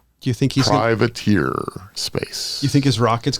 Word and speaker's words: Privateer: It's TEER on it. That's why I'm pronouncing it that way. Privateer to compete with.